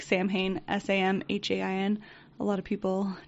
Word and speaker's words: Samhain: a tradition that they called Samhain, which is spelled like Samhain, Samhain.